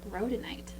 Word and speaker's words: rhodonite: It's called rhodonite. Hey, that rhymes with... Well, that's alliteration with Roblox. Oh, yes, it is. The row. It does have the same starting sound as Roblox. Row.